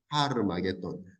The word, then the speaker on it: 하르마게돈: 여기 아는 한글로 지금 아라고 되어 있는데 그리스 성경에서는 하르입니다. 하르, 하르마게돈. 하르라고 하는 건 히브리어 산이란 뜻이죠.